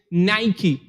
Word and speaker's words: Nike: Los dominicanos la pronuncian Nike y la pronunciación es Nike.